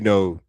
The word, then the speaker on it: know: no, you know, KNOW. It's not kno. The K is silent.